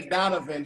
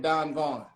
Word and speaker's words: Don Vaughn: He didn't say Donovan, he said Don Vaughn. He actually pronounced it correctly.